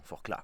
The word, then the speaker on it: Forclaz: J'ai appris à ne plus prononcer le Z, pardon, Forclaz.